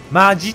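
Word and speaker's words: 真面目: 、真剣、真面目と書いてマジと読む、わかりますか。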